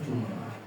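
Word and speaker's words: جمعة: jumuati sitatun jumuah ee dibacanya pakai apa? Pakai bidomatil mim. Jumuah. Jumuah satu qiraah satu ya. Di sini ada beberapa qiraah ya. Eh wal jumah yang paling masyur jumah diaminuha bisa dibaca sukun juga jumah wafat jumaah wah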